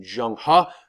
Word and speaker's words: Zheng He: And then we have Zheng He, aka proper pronunciation Zheng He, who is sent out by the Ming dynasty or the Ming Empire, who take over after the Mongols.